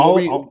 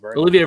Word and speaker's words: Olivier: Oliver, how do you say his last name? Olivier Vernon.